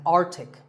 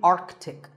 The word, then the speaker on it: Arctic: Pole of the earth it's mispronounced by many as Arctic but it's actually Arctic the sea in the middle is not silent similarly aunt Arctic and Antarctica